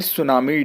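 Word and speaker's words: tsunami: which day इस सेलेब्रेटेड ऑन फिर नवंबर world सुनामी डी ओ और सुनाओ मिट्टी साइलेंट होता है व्हिच डे इस सेलेब्रेटेड ऑन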